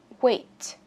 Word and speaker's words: weight: Ở đây chúng ta có weight. Weight, bật chữ T này ra cho mình, nghĩa là cân nặng. Weight. Đây là E-I, chúng ta phát âm là A nhé các bạn.